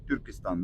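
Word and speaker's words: Түркістан: Вообще город Туркестан это считается столицей тюрков, потому что на казахском языке город называется Тюркистан, да?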